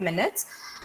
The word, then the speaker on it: minute: Okay, it is understood as 5 minutes. But as you are learning, I am giving you the word minutes in French. Minutes is same spelling as in English, but the pronunciation is minute.